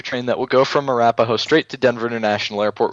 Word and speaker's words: Arapahoe: It's pronounced Arapahoe, like the Arapaho Indians.